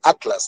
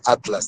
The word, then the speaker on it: Atlas: Pero los españoles pronuncian diferente, separan la TL, pronuncian así más o menos la palabra Atlas, dicen Atlas, Atlas, por el ceseo, por los españoles que son, por esa razón, ¿no?